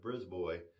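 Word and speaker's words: Brisbois: i s BRZ boy it looks like you might pronounce it brisb but no bris boy b r i s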